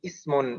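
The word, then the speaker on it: اسم: pertama adalah hamzah washol Jadi Hamzah washol yang mengawali iseng the kata benda itu selalu dibaca kasroh jadi Ismun demikian juga dengan yang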